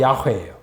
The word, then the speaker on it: 야훼: 여호와는 이제 히브리식으로 발음하면 야훼예요. 그 종주는 야훼이시므로 그의 초상을 그의 인에다 그려놓는 일은 없습니다.